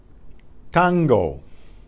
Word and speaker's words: tango: is war tango tango now listen to that tea tango it not tango there's no puff of air out the the tongue is right against the rear teeth the rear of the front of the upper teeth tango tango guitarra guitarra